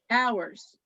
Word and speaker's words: hours: for the store horse hours hours sorry for the h is silent in that word you don't say the